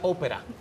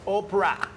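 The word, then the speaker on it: Oprah: opera yo le decía opera que yo no sabía pronunciar opera Entonces me dice no no es ópera es opra opra digo qué nombre más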